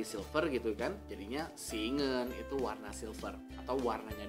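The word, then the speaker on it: เงิน: Dibacanya ngen, ngen.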